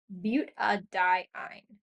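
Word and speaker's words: butadiyne: Now we put the A in there because it helps the molecule sound nicer when we pronounce it. If we didn't put the A in, it would just be butadiene. That sounds a little rough.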